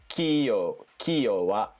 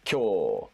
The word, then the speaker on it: 今日: This would be pronounced kiyo wa. This is kyo.